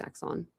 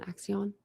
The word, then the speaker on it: Axion: Thanks, Axon. Is that how you say it? Is it Axion or Axon? Axion.